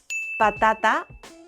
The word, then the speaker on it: patata: Patata, tomate, casa, without the English puff.